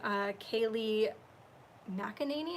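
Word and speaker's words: Kayleigh McEnany: saw this tweet from Kaylee mackaninee is how we say her name I just call her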